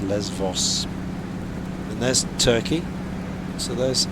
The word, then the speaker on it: Lesbos: We call it Lesbos, but it's pronounced Levos.